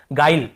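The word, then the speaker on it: guile: देखिए इसे हम पढ़ रहे हैं गाइल, है ना, ग्विल या ग्विले ऐसे नहीं पढ़ रहे हैं, ई को भी लास्ट में नहीं पढ़ते हैं, केवल गाइल ऐसे पढ़ रहे हैं, गाइल, यहाँ पर भी ई साइलेंट है।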